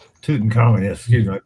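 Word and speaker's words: Tutankhamun: Tuten Common. Yes. Excuse me. I pronounced something wrong.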